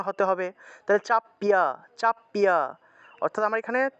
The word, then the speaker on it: চাপিয়া: ইয়ে চাপিয়ামাম চাপিয়াক এখানে দেখুন খিয় আছে থাকলে উচ্চারণ চাপ সারাম চাপ্যাক সারাম অর্থাৎ ক যোগ মূর্ধন্য উচ্চারণ হবে ইয়ে